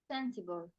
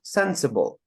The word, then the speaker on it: sensible: good um lesle next sensible the first first yes of course sensible Sensible because think in your head like if you're not sure where do you put a stress try to put a stress on a different syllable okay and then see how that would sound so if we put on the middle one it would be sensible Sensible that's not the word if you put at